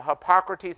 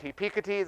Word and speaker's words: Hippocrates: from a place called i could say the word now hippocrates health institute back then i was like hippie t's i didn't know how to say it the hippocrates health